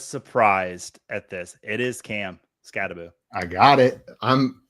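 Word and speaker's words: Skattebo: Is it Emeka Ibuka, Teteroa McMillan, Quinshawn Judkins, or Cam Scattaboo? And yes, I pronounced all 4 of those names correct.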